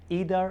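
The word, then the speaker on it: either: ইদার আর আইদার একটা উচ্চারণ করলেই হবে।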